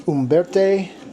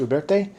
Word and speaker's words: Uberti: So anyway, there is the Uberti, I think that's how you say it, Uberti Cattlemen, and I love it.